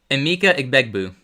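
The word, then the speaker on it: Emeka Egbuka: Pronounce it the right way. Emma Eiggbu.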